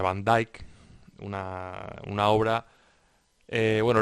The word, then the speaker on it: van Dijk: que es van dijk yo creo que dije van Dick pero creo que se pronuncia van dijk una una obra eh